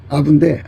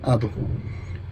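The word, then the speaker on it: אב: 아부인데 아빠 비슷한 발음이에요. 아부.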